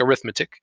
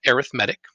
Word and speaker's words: arithmetic: an arithmetic sequence i know it looks like arithmetic it looks like arithmetic but it's actually pronounced arithmetic so that was called an arithmetic sequence then there's also going to be geometric